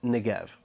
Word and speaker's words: Negev: kind of struggled on Negev I was really uncertain how to pronounce it but I kind of got it right in the video but it's Negev alright back to the